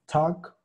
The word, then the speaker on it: talk: Entonces, la pronunciación es la de la segunda A, ¿va? Acuérdense que tenemos tres A's rumbo a la O. De hecho, tenemos cuatro, pero ahorita vamos a usar estas tres. Es la número dos, ¿va? Talk. Es la misma A que usamos cuando dijimos walk.